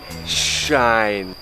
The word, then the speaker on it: shine: ใช่ ไหม ครับ อ วิธี ออก เสียง ที่ ถูก ต้อง นะ ครับ ต้อง ให้ ฟัน ติด กัน ใช้ กระดก เล็ก น้อย เป็น shine คุณ shine อื No